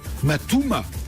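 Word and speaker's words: Mat2oma: Alors vous êtes président et cofondateur de Matouma. Exactement. Ça s'écrit M-A-T-2-O-M-A.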